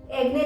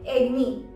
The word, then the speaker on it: acne: एक्ने नहीं होता है, उसका सही प्रोनाउंसिएशन है एग्नी। नी है, ने नहीं।